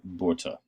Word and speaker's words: Botha: The one who took over as prime minister after Forster's retirement was Pieter Willem Botha. I know that, in the Afrikaans pronunciation, you kind of put an R in there, okay?